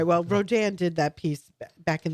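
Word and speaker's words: Rodin: Well, Rodan did that piece back in the 1880s, a French artist, and uh I took my mom to a Rodan show.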